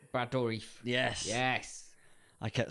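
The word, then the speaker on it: Dourif: Chucky yes what's his name brador yes yes I kept saying blad I kept saying his name wrong right I'll give you I'll give you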